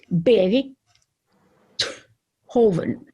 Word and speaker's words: Beethoven: him and it's funny there are two pronunciations of his name in his rhinish homeland in born they knew that it meant that bei oven meant beet garden or beet field so they called him berry hoven hoven but when he